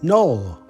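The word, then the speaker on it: nol: word for zero is null that sounds a bit like the English word nil zero null null null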